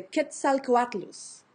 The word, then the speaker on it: Quetzalcoatlus: That is one of the Mexican gods, and I can pronounce that one from the language of the Aztecs, the Nahuatl.